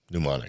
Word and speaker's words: mnemonic: and visualizing your dream mnemonic that's it mnemonic i had to open the other page the m is silent yeah well if it's